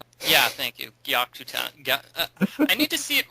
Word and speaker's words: Gyakuten: Gyakuten. Yeah, thank you. Gyakutan.